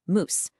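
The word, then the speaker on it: mouse: Back in Middle English, the word we spell m o u s e was moose and was pronounced moose.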